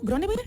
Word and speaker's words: Gronneberg: 3:40 y justamente nos acompaña, tenemos el gusto de que esté con nosotros Grönenberg. ¿Sí lo digo bien el apellido? ¿Grönenberg? De hecho, pronuncias bastante bien el noruego, debo decir.